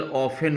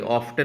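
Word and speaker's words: often: वाई डिड the speaker ऑफन wish to गो to date house? देखिए ऑफन, इसको आप ऑफन पढ़ेंगे, ऑफ्टन मत पढ़ना, टी साइलेंट होता है यहाँ पे, ठीक है।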